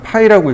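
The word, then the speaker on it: φ: 근데 얘는 앞에 기호를 뭐라고 읽냐면 파이라고 읽습니다.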